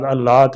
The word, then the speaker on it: علات: جماعت اولاد علات ہیں۔ علات کا صحیح تلفظ عین پر زبر کے ساتھ ہے، جو عربی زبان کا لفظ ہے۔ اس کا معنی مفہوم ان سوتیلے بھائیوں سے ہے۔ انبیاء کی جماعت اولاد علات ہیں، ان کی مائیں